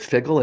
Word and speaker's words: Phiggle: So taking that personal health agency and having organizations like what we're doing with Figgle, and Figgle is spelled PHIGGLE, and that PHI is intentional because the PHI and